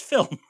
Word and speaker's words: film: Studio Ghibli, but film is pronounced film.